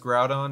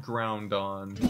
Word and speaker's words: Groudon: Honestly, Jordan, growing up is realizing that it's pronounced Groudon, not Groundon.